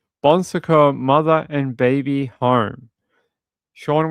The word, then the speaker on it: Bon Secours: And apparently it How do you pronounce this? Bon Secours. All right. Bon Secours Mother and Baby Home.